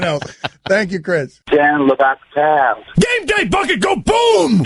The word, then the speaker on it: Le Batard: So the actual spelling is Lebatard. So that could be Le Batard. It could be Le Batard. It could be Dan Le Batard. So I didn't have the correct pronunciation. So I'm going to go with it's the Dan Le Batard Show.